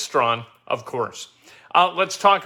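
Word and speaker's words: Strahan: name is spelled s-t-r-a-h-a-n you'd think that that'd be scratchin it's not it's strong of course uh let's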